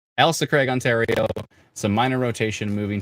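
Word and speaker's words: Ailsa Craig: you kindly um uh so elsa craig i see ailsa not l-a-l-i it's a-i-l elsa craig ontario a minor rotation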